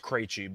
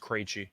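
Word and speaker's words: Krejčí: I don't either, but I'm pretty sure it's pronounced Krejci, just based on hockey. Okay. For the Pacers, they are on a back-to-back. They played the Penguins, not Penguins. I got you in hockey mode. Yeah, I know. You just said it, and it put me dead in. I'm just saying, mode. David Krejci's been around for a long time. It's pronounced Krejci, so I'm assuming it's pronounced the same way.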